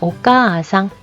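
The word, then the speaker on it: お母さん: 자, 오까아상 아단에 아가 왔는데 여기에서 오까아상 두 번 발음하지 않고요. 오까아상 하고 끌어주죠.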